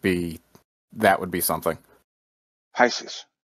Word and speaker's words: Pisces: that would be something Pisces Pisces I'm sorry I pronounce it piskies the um the the